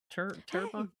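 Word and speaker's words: Terrebonne: His dad opened up a plastics plant like 40 years before in terabone terabone.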